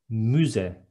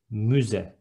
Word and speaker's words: müze: Next one, museum is müze with ü, müze.